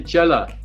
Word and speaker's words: chela: how many students you would have, how many chela you would have. Am I pronouncing it correctly?